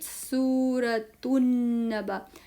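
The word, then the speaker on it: سورة النبأ: 77 सूरतुल मुरसला सूरतुल मुरसला सूरतुल मुरसला 78 सूरतु नबा now there is नो लाम pronunciation here so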